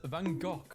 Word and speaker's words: Van Gogh: Americans saying Van Gogh is pronounced Van Gogh. British saying it's pronounced Van Gogh. It's a Dutch name, and Dutch pronounce it as Van Gogh.